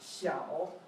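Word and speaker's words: 小: This character means small, and it's pronounced xiao.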